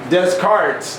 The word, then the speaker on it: Descartes: During this age of reason, some anatomists who followed Descartes, that's how his name is pronounced, administered beatings to dogs